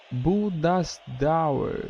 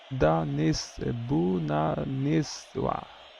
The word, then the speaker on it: Bhubaneswar: Todos os jogos acontecem lá na Índia, na cidade de Bhubaneswar. É claro que a pronúncia é outra, né? Bhubaneswar. Quase isso.